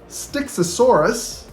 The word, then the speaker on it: Styxosaurus: finally just for fun um because I was mispronouncing them and I didn't know this so here you will see styxosaurus that's how you say it and sucus it's